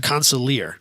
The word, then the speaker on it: Consulier: Well, I think well he did the I always say the name wrong. How do you say the name? Consulier GTP. Say it again. Consulier.